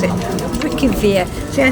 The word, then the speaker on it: Reykjavik: internet and that's how it told us to pronounce it. Reykjavik.